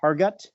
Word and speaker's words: Hergott: His name is Hargut. And did I pronounce that right?